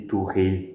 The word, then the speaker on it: Tourette: eram ignorados ou simplesmente, sei lá, digamos que uma pessoa tinha, síndrome de Tourette, ou para quem for mais chato com pronúncia, síndrome de Tourette, já que é francês o nome dessa peste.